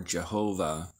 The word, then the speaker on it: Jehovah: VH or yod vve often pronounced in English as Yahweh or Jehovah um tetr Graton then